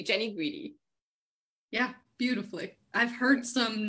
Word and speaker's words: Jeni Guidi: today and I was like no am I pronouncing that correctly Jenny greedy yeah beautifully I've heard some nice variations but